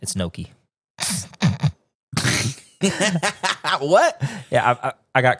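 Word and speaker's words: gnocchi: about gashi and oh not gachi it's Noki it's Noki how do you say gashi and it's Noki that's so different well it's got a g in front of it so it's got go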